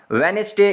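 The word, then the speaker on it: Wednesday: वेनेसडे, इसमें D silent है।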